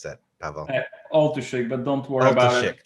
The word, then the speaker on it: Oltuszyk: How do I pronounce that, Pawel? Oltuszyk, but don't worry about it. Oltuszyk.